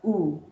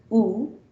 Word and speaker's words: ou: The word oo, ou, pronounced as oo, means or. And the same word pronounced oo, but you could see an accent above the vowel u, right?